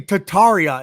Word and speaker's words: Tartaria: like tartar sauce like tartar no it's totally tataria you're saying you're saying tataria it's tataria and basically tataria is that most likely that's exactly what i'm saying i'm saying to tarya now you're saying it right wait before you were like to talk you were saying like tart tartar sauce tataria it's tataria tataria it's either way bro